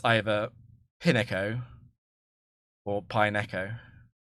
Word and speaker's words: Pineco: didn't watch the anime I didn't know that it was pineco that makes sense to me that it's pineco but um I thought pineo was just a madeup word so I was like oh it's two syllables and it's either pineco